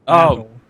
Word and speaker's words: basil: bad yeah yeah basil or should I say The British way basil basil basil basil is a person's name basil is the name of the food um but for some reason the English cookers pronounce it basil which is like what so Aces is drinking